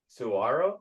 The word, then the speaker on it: Saguaro: Saguaro, you said? Okay. It's got the silent G in there.